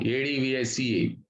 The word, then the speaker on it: advice: ADVICE.